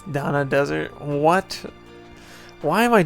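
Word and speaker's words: Dannagh: Dagna Desert, it's Dana Desert.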